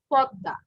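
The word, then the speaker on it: পদ্মা: But its pronounced is Podda, not Padma, ঠিক আছে?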